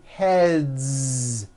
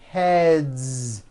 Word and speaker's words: heads: Game two games games another word head ends with a voiced d so we've got one head or two heads heads it's voiced two heads very good next word